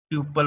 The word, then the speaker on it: tuple: So second data structure है हमारा which is called टपल, ठीक है। ट्यूपल बोलते हैं उसको इन एग्जैक्ट प्रोनाउंसिएशन के ट्यूपल।